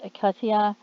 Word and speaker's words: Katya: and things like that it says her first name is pronounced akatia she's salvadorian descent has